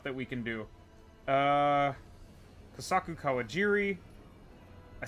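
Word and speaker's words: Kosaku Kawajiri: Uh, Kasaku Kawajiri.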